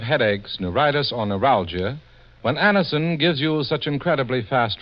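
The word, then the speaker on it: Anacin: the pain of headaches neuritis or neuralgia when Anderson gives you such incredibly fast relief there's a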